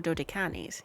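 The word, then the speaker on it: Dodecanese: A journey to the deserted places of the Oh, I'm not sure how to pronounce that. Dodines. Oh, yeah. That's Greek. Okay. Yeah, that might be Dan or Dodicanis.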